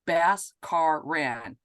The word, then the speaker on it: Bhaskaran: And you're probably already wondering, Bhaskaran is pronounced Bhaskaran.